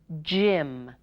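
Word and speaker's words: gym: go we're on Jim Jim the gee sounds like J because it's followed by Y and the Y sounds like short I because it's surrounded by consonants okay your card to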